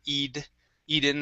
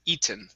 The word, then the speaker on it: eaten: word eaton now uh usually yes we can pronounce the t like a d sound saying eid eden or something like that but in this case because it ends with a vowel and an e n we cannot switch that t to a d all right so we have to either pronounce it like this eaten or like this eaten okay so let's try it with the normal t sound the word is eaten eating okay very good